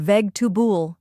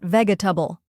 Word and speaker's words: vegetable: Focus on saying veg tubul, not veubble.